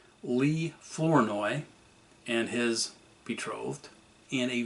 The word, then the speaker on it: Flournoy: The Herald noted that 2 of the bandits, Lee Flournoy, that's F-L-O-U-R-N-O-Y, not Burney, B-U-R-N-E-Y, and Charles Mays, Mays